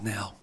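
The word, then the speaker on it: Knell: It's pronounced Nell, like knee and knife.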